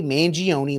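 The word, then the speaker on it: Mangione: is Olive Garden so can you please stop over pronouncing different syllables in an attempt to try and sound sophisticated because you don't sound sophisticated you sound more like an American stereotype just say mangion like the rest of us Luigi benion give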